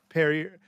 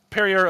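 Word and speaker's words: Pierer: how do you say is it perier yeah it's like perier like the water company perer Mobility AG um they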